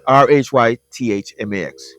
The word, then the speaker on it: Rhythmax: Um, so, and it's spelled R H Y T H M Ax for Rhythmax. Instead of saying Rhythm, Rhythmax.